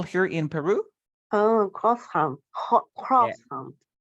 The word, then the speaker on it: croissant: Croissant. Yeah, people say croissant. Yeah, because they think that is correct. That is the perfect pronunciation. But in French, how do we say this?